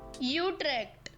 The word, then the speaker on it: Utrecht: replacement for being worldly give me a Dutch Guy saying you track for God's sake how do you say it I know it's not bad is it Utrecht okay well that's hard to take that serious the official pronunciation sorry